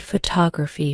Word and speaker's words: photography: true for longer words take the word photography for example the stress is on the second syllable faux to ra knowing